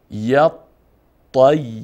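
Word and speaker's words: يطّيّر: ی طیر ی طیر حرف طوی مشدد هست و حرف یا مشدد هست پس طا هم به مقدار دو حرف تلفظ و نطق می‌کنیم و یا را همچنین ی طیر چون حرف اول ساکن و حرف دوم متحرک اینجا یا هم یک یای ساکن داریم یک یای متحرک یطیر و ان و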